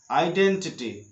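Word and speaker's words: identity: तो होता है वर्ड्स, लेकिन ई इसका उच्चारण नहीं करना है। तो ध्यान रखना, आइडिया बोलते समय, आइडेंटिटी बोलते समय, आइस बोलते समय, आइसक्रीम बोलते समय आपको आई से वर्ड शुरू तो करना है, लेकिन आई को ई नहीं कहा करके आई को आई बोलना है, तभी आपकी सही उच्चारण होगी।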